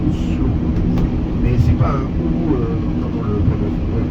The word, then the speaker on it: Oslo: imperceptible c'est pas pas on dit pas Oslo on dit ouslo mais c'est pas un